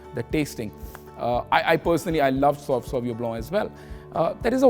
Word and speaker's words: Sauvignon Blanc: It is pronounced as Sauvignon Blanc, B-L-A-N-C, and Blanc basically means white.